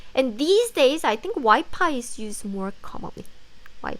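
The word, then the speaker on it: 와이파이: world of wi-fi wi-fi and wi-fi has the f sound however in korean we don't have the f sound so instead of the f sound we replace the sound with p sound as y pi so you can say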